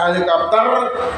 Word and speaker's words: helicopter: Dibaca helikopter juga ditulis helikopter ya. Tulisannya helicopter. Membacanya helikopter. Jadi huruf C dibunyikan dengan suara K.